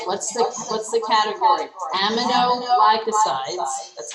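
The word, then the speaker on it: aminoglycosides: to our kidneys what's the what's the category amino glycosides that's how you say it what do they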